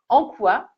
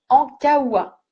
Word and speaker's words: Ankaoua: Alors, bien sûr, ce n'est pas Maëlle, même si c'est l'héroïne, c'est bien Maud Ankoua, non, mince, j'ai mal prononcé. Maud Ankaoua, qui a écrit le livre.